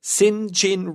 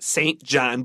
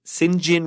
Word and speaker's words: St. John: she is informed by Sinjin rivers that says st. John but it's pronounced singe in rivers that an uncle whose